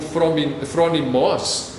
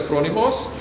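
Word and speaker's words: φρόνιμος: ela pode ser traduzida, a pronúncia é algo como phronimos, eu não conheço o grego, mas assim, a gente consultando o dicionário do grego, né, vem com a pronúncia phronimos, e estava ali como tradução prudente, cuidadoso ou sábio.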